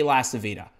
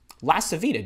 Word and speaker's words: LaCivita: My name's LaCivita. Your full name. You want to know why you want to say your full name? Because not everybody is named Carly Smith or something that's easy to pronounce. LaCivita, do you have any idea how many people